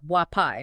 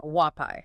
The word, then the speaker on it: Huapai: Which, by the way, is pronounced Wapai, not Wapai.